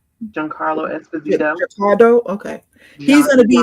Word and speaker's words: Giancarlo Esposito: How do you pronounce his name? Giancarlo Esposito.